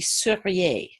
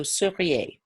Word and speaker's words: seriez: Be careful to distinguish between futur and conditionnel. So if we want to take the verb être, the conditionnel is going to be seriez with an E. So seriez.